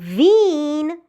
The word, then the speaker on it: Wien: you have this word, it is called Wien because you have IE, but this word is pronounced as Wein because you have E first and then I, followed by I.